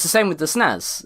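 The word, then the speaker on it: SNES: System so yep it's the same with the snows it's the Super Nintendo Entertainment System so you can't tell someone how to pronounce snow and ice but ten points because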